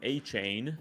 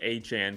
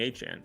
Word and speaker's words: Etienne: into the league and everybody's calling him Etienne cuz that's how it's spelled and then all of a sudden he in draft season he says no it's Etienne please call me Etienne.